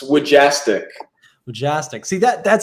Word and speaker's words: Wujastyk: how do you say your last name it's wajastic jastic see that that sounds so cool and